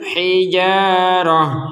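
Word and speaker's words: الحجارة: dengung qasw waain Minal hijarah Nah itu kan hijarahnya kita baca ha karena kita berh berhenti kalau tak tak bulat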